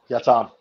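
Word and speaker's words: yatağan: there's a g but in Turkish there's a little line on top of the G we call it soft G instead of reading that g you're just repeating the vowel in front of it yatan oh interesting Yan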